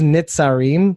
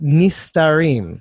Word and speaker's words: Nistarim: What he says is Nitzarim, but he pronounced it wrong. Oh no, that's so disappointing. It's the 36 Nistarim.